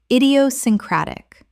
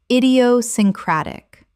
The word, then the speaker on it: idiosyncratic: equivocal equivocal Word 268 exacerbate already covered Word 268 idiosyncratic common mispronunciation idiosyncratic correct pronunciation idiosyncratic Six syllables with the stress on the fifth.